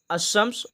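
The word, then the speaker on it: الشمس: अशम्स। तो अशम्स में जो है आप लोग देख सकते हैं लाम का तलफ़ुज़ नहीं हो रहा है। लाम क्या है? यहाँ पे साइलेंट है।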